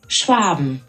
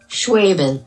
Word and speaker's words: Schwaben: And checking with Google Translate app that I am pronouncing the product name correctly. Schwaben. Schwaben.